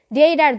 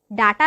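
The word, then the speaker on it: data: আমরা যখন ফেসবুক কিংবা টুইটার চালাতে চাই তখন কিন্তু আমাদের ডেটার দরকার হয়। ডাটা নয়, কলমি শাক কিংবা পুঁই শাকের ডাটা উচ্চারণ করবো না, আমরা উচ্চারণ করব ডেটা।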